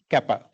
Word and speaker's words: kappa: But actually it's a Greek letter it is pronounced kappa.